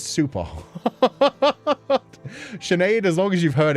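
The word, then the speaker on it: Sinéad: They just kind of ignore the H. It's just everybody knows Sha S E A N is like it has an SH even though the H isn't there.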